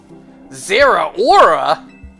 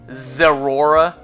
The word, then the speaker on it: Zeraora: Zeraora. I don't know where some people got Zerora to as its pronunciation. Didn't the movie pronounce it Zeraora?